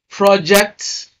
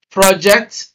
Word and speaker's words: project: Now, number one, if a two-syllable word is used as a noun and also as a verb, stress the first syllable when it is a noun and stress the second syllable when it is a verb.